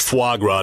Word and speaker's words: foie gras: He's too busy sitting at home drinking Sauv Blanc and eating foie gras. It's pronounced foie gras, David.